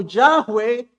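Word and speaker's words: Yahweh: Es decir, no hay otra deidad que sea como Yahwe, que es así como se pronuncia en el hebreo, que sea similar a él.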